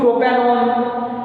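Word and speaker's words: propanone: ओन का प्रोनाउंस आता है, किसका प्रोनाउंस आता है वहां पे, ओन का। तो जो ONE है उसको प्रोपेनॉन या प्रोपेनॉन ऐसा नहीं पढ़ते, प्रोपेनॉन पढ़ते उसको। ओन ऐसा आपके मुंह से प्रोनाउंस निकलने होना प्रोपेनॉन के लिए।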